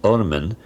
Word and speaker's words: ormen: They only wrote the consonants, and the word is RMN, to be pronounced Ormen, and it means literally the worm.